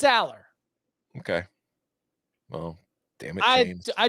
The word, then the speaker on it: Allar: in the podcast like so how do you pronounce it because Franklin said alar but it's Aller okay well damn it I do think the Drew Aller is going to be fantastic I think that